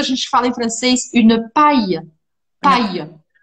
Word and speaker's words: paille: Mas canudo a gente fala em francês, une paille. Paille. Uma paia. Que se escreve Palle.